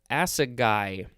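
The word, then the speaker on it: assegai: move on to uh acid guy acid guy i think that's how it's pronounced a-s-s-e-g-a-i or a-s-s-a-g-a-i this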